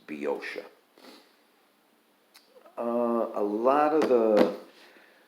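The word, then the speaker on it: Boeotia: thoughtfully lets me know how to pronounce be ocea because i uh or b osha uh because i had been mispronouncing it forever and because there's an o in there that's silent it's spelled b-o-e-o but you just ignore that first o it's biosha uh a lot of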